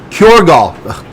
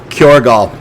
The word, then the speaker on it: Kjorgal: Kjorgal. Sorry, that J is silent there. Kjorgal and stuff like that.